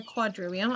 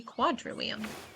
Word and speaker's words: quadrivium: The trivium and the quadrivium, I guess if it's medieval Latin you pronounce the V's.